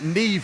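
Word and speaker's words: Niamh: It's like when I saw the name uh Neve for the first time. Ne does not look like how you spell it.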